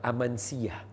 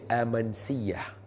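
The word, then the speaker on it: Amasya: di satu tempat nama Amansiah. Amansiah. Kalau dari segi ejaan dia nampak macam Amansyah. Nampak ejaan dia macam Amansyah tapi sebutannya Amansiah.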